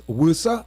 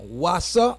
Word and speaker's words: WASA: entity um called uh how they pronounce it it's WUSA oh no sorry I'm Wasa right that entity called